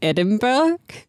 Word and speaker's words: Edinburgh: edinburgh edinburgh edinburgh edinburgh it's not edinburgh it's edinburgh anybody from edinburgh please please say the pronunciation in the description because i'm so confused it's edinburgh by edinburgh something like that but it sounds like like french yeah it sounds like